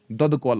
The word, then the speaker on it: दुधा कौल: अगर ये पूछा गया दुधा कौल, दुधा कौल ऑफ कश्मीर, दुधा कौल KUL, दुधा कौल ऑफ कश्मीर, अगर कश्मीरी लैंग्वेज में कहेंगे ना तो हम बोलेंगे दद कौल ऑफ कश्मीर, दद कौल, ये दुधा है।